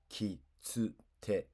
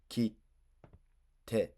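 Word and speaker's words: 切手: Mistake one Reading the small t out to loud like a regular t. Wrong. ki tsu te You pronounced the small t. Right. ki te ki te Prepare a T. Hold. Release.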